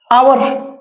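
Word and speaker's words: hour: आवर, तो pronunciation क्या हो रहा है, आ ना, आवर, राइट, आवर, तो क्या लगेगा, एन, वॉल साउंड है ना दोस्तों।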